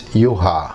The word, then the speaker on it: Juha: Because I'm from Finland, so it's Juha.